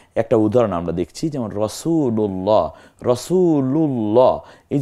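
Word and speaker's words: رسول الله: হয় যেমন ইতিমধ্যে একটা উদাহরণ আমরা দেখছি যেমন রাসুলুল্লাহ রাসূলুল্লাহ এই যে লাম প্রথম রাসুলু এই লামের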